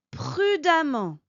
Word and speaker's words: prudemment: il agira d'ajouter le suffix amant je dis bien amant il s'écrit E 2 e n T et on obtient l'adverbe prudemment qui signifie avec prudence